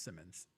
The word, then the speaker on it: Simons: Simons or Simmons? Keep forgetting. It spells Simons, but I think it's pronounced Simmons.